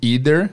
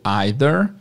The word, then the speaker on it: either: E é bom lembrar também que sempre tem eh duas pronúncias para essa palavra. Você pode ouvir tanto either quanto either, tanto neither quanto neither. Nos Estados Unidos eu ouço os dois, mais o either, mas também tem o either.